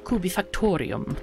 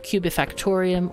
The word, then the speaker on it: Kubifaktorium: Ah, Dimostan, it can be said Kubifaktorium, or Kubifaktorium, or any other accent you desire.